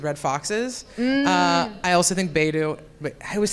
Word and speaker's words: Beidou: I also think Beidou. Wait, I always say it wrong. Beidou or Hey, I say it wrong every time. Beidou. or- Beidou. It is Beidou.